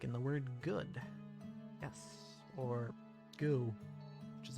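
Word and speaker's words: ゴ: in the position go this is go or go you pronounce this as go like is i can go home i'm already here who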